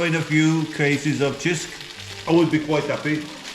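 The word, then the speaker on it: Cisk: It's called Chisk. Many foreigners call it Sisk, but it's pronounced Chisk.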